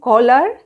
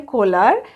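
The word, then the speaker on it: Köhler: एक है मैक्स वेर्देमार, Wolfgang कोहलर and Kurt Kafka. ये प्रोनाउंसिएशन जैसे मैंने किया है वैसे ही आप करेंगे। मैं फिर से बता रही हूँ, मैक्स वेर्देमार, Wolfgang कोहलर and Kurt Kafka.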